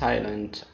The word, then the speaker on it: island: letter s the rule s is not pronounced before l and the following words and these are island many many students do